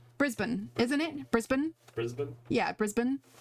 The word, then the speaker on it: Brisbane: me, my instinct is Brisbane, but I know it's like Brisbane, isn't it? Brisbane? Yeah, Brisbane. Like you don't pronounce, like, it's not a hard A, it's Brisbane.